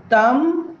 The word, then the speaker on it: thumb: Whenever we find the spelling MB at the end of any English word, the B must be a silent letter. Examples: thumb, bomb, tome, claim, comb, ila, right?